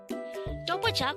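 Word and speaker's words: 또 보자: Doboja could be divided into 3 syllables. Do-bo-ja. Do is formed from the combination of the sounds of sang-dikut or double dikut and o.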